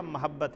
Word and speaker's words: محبت: جائز ہے، لیکن افضل جو اردو میں عربی میں بھی یہ میم کے زبر کے ساتھ ہے، اور جو کلمات جس طرح ریج ہوتا ہے ان کو پڑھنا ویسے صحیح ہوتے ہیں۔ اصل جو تلفظ اس کا محبت ہے، محبت الہی، الہی